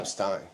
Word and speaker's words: Rapstine: Rapstine. Rapstine. On the boat, it was Rapstine. When we came from Poland, it was Rabstyn.